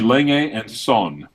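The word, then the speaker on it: Lange & Söhne: A Lenge and Son. So. Do you want to attempt to pronounce those brands correctly? Lange and Soon, Ulysses Naden, and what was the other one?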